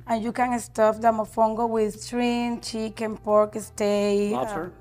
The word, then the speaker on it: mofongo: Mofongo.